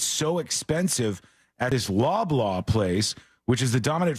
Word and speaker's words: Loblaw: Oh, Bob Loblaw. It's Loblaw. Bob Loblaw. And it's spelled the same exact way.